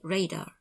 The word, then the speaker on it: radar: and are from ranging we pronounce this acronym as a word not as letters so we say radar not r-a-d-a-r another acronym is now